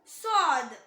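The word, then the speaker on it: صاد: Next letter சாத். சாத் சாத். Same like ஜா. நாவோட நுனி கீழ் வரிசை நடுப்பற்களோட ஈரை தொடும்போது உச்சரிக்கணும். ஆனா இது ஹெவி லெட்டர். ஸோ இதை ப்ரொனவுன்ஸ் பண்ணும்போது நல்லா ஹெவியா ப்ரொனவுன்ஸ் பண்ணணும்.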